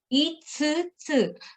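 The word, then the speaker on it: 五つ: Kunyomi is 5つ、 itsutsu. So this is very difficult. Yeah. So e and then tsu. This is not small tsu. This is the big one.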